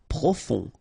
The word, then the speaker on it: profond: Profond. Final D not pronounced. O-N, on.